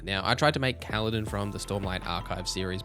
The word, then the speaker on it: Kaladin: Even though Kaladin rhymes with paladin, that was a tough choice.